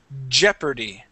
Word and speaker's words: jeopardy: you the word is jeopardy okay so that o does not make a sound and that a makes an R sound so it's jeery Jeopardy Jeopardy good good nice job